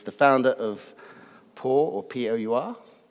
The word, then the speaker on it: Pour: Alex Kratena is the founder of Pour, or P-O-U-R, P-Hour. How do you pronounce it, Alex? Pour. It's just Pour. It's Pour.